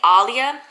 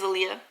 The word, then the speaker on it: Alia: so in my head I've been saying Alia and then watch it is Aaliyah hey welcome or welcome